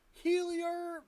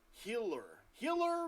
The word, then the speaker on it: Helier: Helier. I never even say it right. It's Healer.